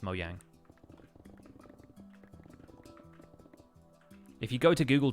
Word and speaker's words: Mojang: about it they say Mojang but mo yang is actually a Swedish word like it just means kind of gadget or thingy and in Swedish it's pronounced mo yang if you go to